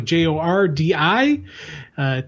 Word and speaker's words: Jordi: Inker, I'm going to assume it's the J is probably pronounced with an H, but I'm not sure. So Jordi, Tarragone, Tarragona.